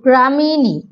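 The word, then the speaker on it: Gramineae: প্রথমে চলে এসো গ্রামিনী, এটা উচ্চারণটা দেখো, গ্রামিনী। এইভাবে তোমরা সিলেবল ভেঙে পড়বে, GRA গ্রাজ, MI, তারপর এই উচ্চারণটা হচ্ছে নি, NEAE, নি।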